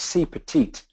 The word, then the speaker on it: CPeT-IT: cpit and then uh we put the e in there to spell the word petite which is French for small so it's sort of